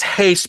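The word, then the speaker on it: Reis: So it's Hayes because he's Brazilian and they pronounce R's like an H. And then you pronounce the vowel. I'm not going to go into that kind of detail, but just trust me, it's Hayes. Hayes.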